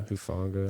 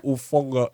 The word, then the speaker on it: Hufanga: and then Fred Warner, Ufunga, is that how you say his name? Yeah, Hufanga. Like You that. just try to throw so much spice when you're like, Ufunga.